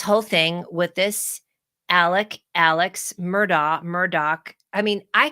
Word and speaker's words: Alex: this guy's name because it clearly is spelled a-l-e-x but I heard so many times today on the news Alec Alec Alec and if you